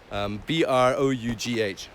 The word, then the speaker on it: Brough: I don't know how to pronounce it exactly. Brough or Brough. Brough.